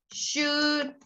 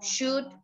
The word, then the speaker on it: should: And I always say that letter L is silent. Would, could, should, talk, walk, silent L. All of these words. Would, could, should, talk, walk.